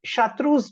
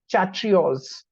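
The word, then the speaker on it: chartreuse: green lime green okay now this chatus many of the students used to pronounce it chatos chatro so there was a lot of error taking place in classroom also but the motto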